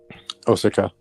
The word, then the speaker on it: Osaka: the Nintendo theme park in, I think it's Osaka. Osaka. You Americans butchered their names, yeah.